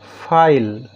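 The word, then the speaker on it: file: তো যেমন ফাইল লক্ষ্য করো এইটা সাইলেন্ট থাকে। আমরা যখন উচ্চারণ করি তখন এটা ল তে গিয়ে উচ্চারণ শেষ হচ্ছে। অল। শেষে উচ্চারণ হচ্ছে অল। এখানে ইটা সাইলেন্ট থাকলো এবং আই এই ভাওলটার উচ্চারণ দীর্ঘ হলো।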